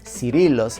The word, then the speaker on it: Cirillo's: And then pizza place number 1 to me is for sure Cirillo's, or Cirillo's according to the English pronunciation.